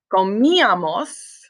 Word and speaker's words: comíamos: For the nosotros form, it is comíamos. So you do need the accent on the I still.